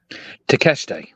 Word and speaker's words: Takeshita: Takeshita? Yes. Say it again. Takeshita. Why does it look like Takeshita?